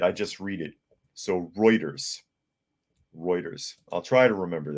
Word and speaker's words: Reuters: to have insider trading and all people says Rutters is actually pronounced Reuters uh because it's a German newspaper okay okay I don't know I never heard it I just read it so Reuters Reuters I'll try to remember that I might